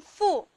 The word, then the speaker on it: 附: 这个字念附，它的声母是 fo，附近的附。